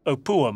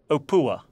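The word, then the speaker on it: Opuwo: It's pronounced Apua, mate. Apua. The way it is spelt on maps is quite different to its pronunciation, which kept confusing me.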